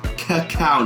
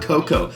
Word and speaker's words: cacao: Yes, they are pronounced cacao nibs. They're not cocoa.